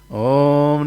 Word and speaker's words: Om: Whenever you say Om Namo Bhagavate, Om Namo Narayana, try to take the word Om from the navel portion. As you are breathing out, that's the correct way of pronouncing the Om.